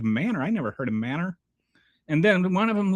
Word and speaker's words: Manor: So M-A-N-O-R, which the rest of the civilized world calls manor, in Texas, it is pronounced Manor.